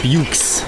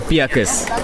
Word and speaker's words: Beukes: it's spelled b-e-u-k-e-s but the most common uh mispronunciation is bukes because i actually thought it was beauty yeah all right okay but just to get the story straight get the record straight let's go piacos so it's okay not not